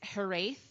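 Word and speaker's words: hiraeth: so many consonants um it's herath is i think how it's pronounced and it's a word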